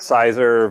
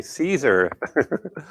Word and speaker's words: Siser: vinyl that we have it's that sizer vinyl caesar sorry caesar i said it wrong earlier it's actually caesar but this press would